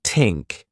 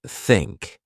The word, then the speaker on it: think: For pronunciation, you might struggle with the thia sound, saying tink instead of think. I used to do that too. Practice by putting your tongue between your teeth and blowing air, like think.